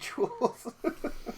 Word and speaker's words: Jewel: our grocery store here let's pronounce it Jewel not Jewels pronoun the jewels it